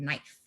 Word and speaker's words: knife: ] is like a knife your mom was like let's try again babe um what does that say could knife the k is silent what does it say